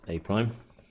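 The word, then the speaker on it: A′: The image of A apostrophe is pronounced A prime.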